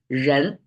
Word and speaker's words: 人: ones can still pronounce Ren right um and it's second tone you can see from